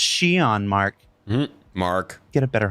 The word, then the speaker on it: Xi'an: And if your instinct was to stop the YouTube video and go immediately to comments and say, it's pronounced Shion, Mark.